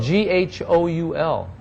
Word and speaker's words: ghoul: name of one who consumes corpses it's pronounced it's spelled GH o UL ghoul okay yeah we can survive on it